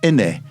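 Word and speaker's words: innit: And if you want to pronounce it correctly, it's inne. You have to drop the T.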